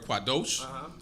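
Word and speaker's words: קָדוֹשׁ: you also have the word quadesh when you pronounce it as quadesh it means male temper prostitute when you say the word quados then it means holy so just because it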